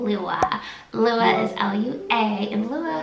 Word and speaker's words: Lua: my faves from the list is the name lua lua is l-u-a and lua happens to mean